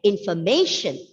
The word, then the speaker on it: information: r to go silent and the word is pronounced as information the let penultimate syllable is pressed and even